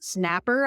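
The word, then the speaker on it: Snappr: I discovered this tool Snapper I think is how you say it it's xn a p p r and it's free I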